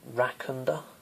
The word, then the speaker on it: Rakunda: I use is called Rakunda. That's Ra, as in like Ra, the sun god. Kun Da. Ra, Kun Da. There's 3 different syllables.